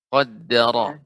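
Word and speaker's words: قدر: Ronya lebih ditebalkan lagi Ibu. Qaddara. Karena berdekatan dengan huruf apa ini agak susah ya Ustaz ya. Iya, ini harus lebih fokus Ibu. Karena kalau kita tidak fokus, maka sehingga rohnya jadi tipis.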